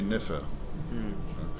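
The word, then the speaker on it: nfr: We know perfectly that it was probably, at the time of Akhenaton, it was probably pronounced Nofe. Nofe. The R was being dropped for a long time already. And in the A, the first vowel being O, showed by Coptic, you know. Okay. But if you pronounce Nofe, so you won't pronounce the R at the end.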